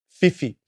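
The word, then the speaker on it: whiwhi: And the WH is pronounced as an F, as in fifi, fifi.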